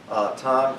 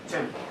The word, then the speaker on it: Tim: As- So, then we will move on to our speaker, Tom. Did I pronounce it right? Yeah, Tim. Tim, I'm sorry. Tim.